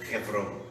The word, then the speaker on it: Hebron: Hebron fica desse vale de Chavé a cerca de 40 pouco mais quilômetros para chegar em Hebron, ou Hebron, a pronúncia hebraica.